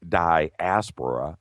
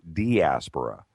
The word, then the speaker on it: diaspora: The accepted pronunciation of, are you ready? Diaspora, according to all the standard dictionaries, is either diaspora or diaspora. I'm just trying to help, Jimmy.